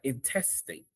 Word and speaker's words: intestate: The Florida Bar explains that if someone dies without a valid will, they die intestate. Repeat that. Intestate. And it's spelled i n t e s t a t e.